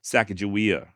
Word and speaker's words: Sacagawea: And the Limhi Shoshone do maintain that her name is indeed pronounced Sacagawea, just like I'm saying.